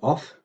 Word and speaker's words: of: of the word off we interpret as pronounced off unlike Modern English where it's pronounced of um is from of